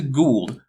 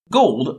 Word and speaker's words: Gould: Oh great, we get to get into Gould, whose name isn't pronounced Gold, but again, English might not be his first language, so he gets a pass.